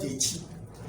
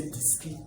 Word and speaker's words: Dechi: Some say Diski, some say Dikis, some say Dix.